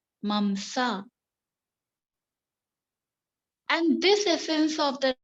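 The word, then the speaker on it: मांस: The pronunciation mamsa.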